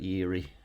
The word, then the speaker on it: Erie: i think that's pretty i pronounced that eerie but yeah those uh